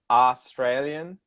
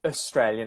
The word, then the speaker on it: Australian: because Americans always say Australian, Australian, and I would say Australian. I would use a schwa, that schwa Australian. vowel Yeah. sound at the start, so that it's the second syllable is where it's the stress is Australia, Australia, and you'll hear Australia.